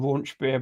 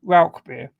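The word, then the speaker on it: Rauchbier: And Ralbeer is definitely Ralbeer.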